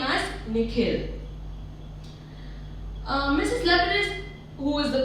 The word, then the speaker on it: Nikhil: The way the principal pronounces his name is different from the way his parents say it. The second part of it is longer, sounding like hill.